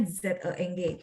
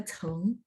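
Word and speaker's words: 曾: Ya, ini bacanya Zeng. Ada juga bisa dibaca Cheng. Sorry. Hurufnya sama, Pak. Tapi bacanya beda. 它是多音字, Cheng. Chengnya ada dua. Seperti itu ya. Bisa dibaca dua.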